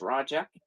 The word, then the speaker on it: Roga: I'm used to getting my name slaughtered because my first name is Roga and it's pronounced Raja.